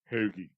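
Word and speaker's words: hoagie: Scottish yeah no they picked up our shitty accent and now then it became the hogy hogy became the hogy that's spelled h o o o a g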